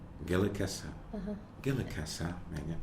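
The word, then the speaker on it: Gilakas'la: In Kwakwala, it's Gaelicasla. Gilikasa.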